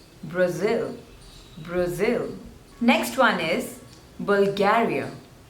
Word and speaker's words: Bulgaria: Brazil next one is Bulgaria so there are three syllables and you have to stress on the second one Bulgaria Bulgaria Bulgaria Bulgaria